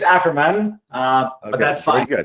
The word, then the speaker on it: Ackerman: No, it's Ackerman, okay, but that's fine.